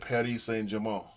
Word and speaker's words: Paris Saint-Germain: So I looked it up, and Google will pronounce it for you. Mm-hmm. And they said Paris Saint-Germain.